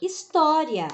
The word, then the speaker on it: história: A próxima, história.